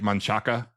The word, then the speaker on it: Manchaca: here is spelled like Manchaca. Uh-huh. But it is pronounced wrongly. But as long as I've lived here for 40 years now, it's Manchac. Yeah. Even though it ends in an A.